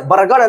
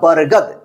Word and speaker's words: बरगद: बर, अब देखिए यहां पे BAR क्या होगा, बर, GAD, गद, गढ़ नहीं होगा, बरगढ़, बरगढ़ नहीं होता है, इससे डी का ड उच्चारण नहीं होगा, दो उच्चारण होगा, बरगद।